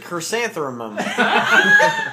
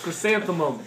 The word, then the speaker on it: chrysanthemum: R here it's chrysan you said chrysanthum there's no th it's crysanthemum Chan chrysanthum that has to